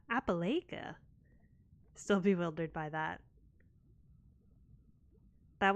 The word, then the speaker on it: Appalachia: The phonetic spelling as lash is gonna help me a lot.